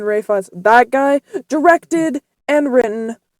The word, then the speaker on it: Ralph Fiennes: Is it like Ray Fiennes? Ray Fiennes, I think. I don't know. I called him Ralph Fiennes, and then I saw like the Oscars, and everyone was saying Ray Fiennes.